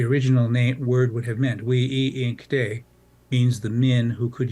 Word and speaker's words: winkte: A linguistic family on my reservation of Rosebud said that wasn't the original pronunciation of the word. The original word was we-i-inkte, a multisyllable word, we-i-inkte, and it referred to,